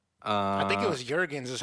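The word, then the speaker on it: Melina Juergens: hell Blade 2 um I think it was Jurgens is how they pronounced it at the game of Jurgens that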